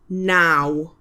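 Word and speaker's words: naw: That's W Y T H with nine is now. N A W now.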